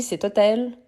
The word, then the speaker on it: hôtel: est très très important on a le H mu h mu c'est celui qui oui on ne prononce pas mais surtout on fait les lision donc on dit c'est hôtel c'est hôpital mais on a le